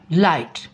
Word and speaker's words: light: हम किन चीज़ों को प्रोनाउंस कर रहे हैं? LIT, GH को हम प्रोनाउंस नहीं कर रहे, ये साइलेंट हैं।